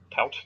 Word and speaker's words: tout: Tout.